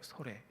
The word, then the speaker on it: 솔내: 근데 그걸 우리나라 발음으로 자꾸만 하면 소레가 돼요. 소레.